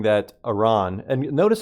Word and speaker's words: Iran: Uh, another thing too is JD Vance saying that Iran and notice how he says Iranians. Who says Iran or Iranians? It's a purposeful misprononunciation of Iran. It's Iran. It's Iraq and Iran. Let's get this straight.